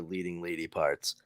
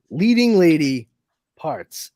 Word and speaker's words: Leading Lady Parts: and then Hold on, I feel like you put the emphasis on the wrong syllables in the title for Leading Lady Parts. It'd be Leading Lady Parts.